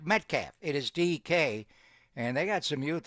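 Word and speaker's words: Dike: And the Niners did cut Gay yesterday to bring your guy Eddie money back, but it's not pronounced dyke. It is like metaf. It is DK and they got some youth on that wide receiver room.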